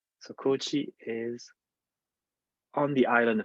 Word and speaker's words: Kochi: my research which is called Kochi was a long o uh and I give you a moment to look at this map look carefully at this map and try to find where a coachee is where is it